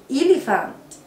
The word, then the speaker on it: elephant: برافو، اسمه elephant. elephant. البي مع الاتش بتتنطق ف ف ف sound.